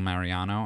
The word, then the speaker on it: Mariano: So we're in the studio with obviously Jennifer Easy on the Eyes, Gimenez, and Mariano. Am I pronouncing it correctly?